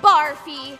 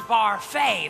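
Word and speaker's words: Barfée: Returning after last season's tragic setback, William Barfy. It's pronounced Barfay. There's an accent ague.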